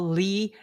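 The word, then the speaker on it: Leigh: silent letters right like when you spell Lee l e I had a friend l e i GH why why GH what that's that's that's not Lee is l e e Lee right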